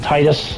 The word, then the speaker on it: Tidus: This is Tidus, or some pronounce it Titus.